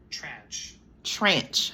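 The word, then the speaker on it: tranche: it hold on let me see how to pronounce it trench trench okay y'all heard it right here so a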